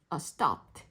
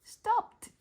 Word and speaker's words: stopped: 그래서 얘도 dropped stopped 이렇게 stopped 하면서 트 발음으로 나야 돼요.